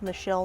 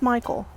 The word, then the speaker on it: Michel: for a Frenchman named Michelle Menard it's not pronounced Michael which sometimes people think we are on 33rd